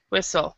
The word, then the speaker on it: whistle: uh whistle whistle yes so on this word the t is silent whistle and what does it